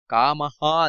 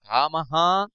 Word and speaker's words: ಕಾಮಃ: ನಂತರ ಪವನಃ ಪಾವನೋ ನಲಹ ನಂತರ ಕಾಮಹ ದೀರ್ಘ ಇದೆ ಕಾಮಹ ಕಾಮಕೃತ್ ಕಾಂತಹ ಕಾಂತಹ ಕಾಮ